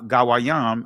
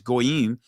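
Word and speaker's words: goyim: and you'll see the same Hebrew word ga gayam I'm saying it in the ancient pronunciation the Israelis goim but that word when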